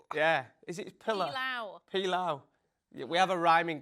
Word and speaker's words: pilau: Yeah, we had to rhyme with the word cow today. And it was pilau.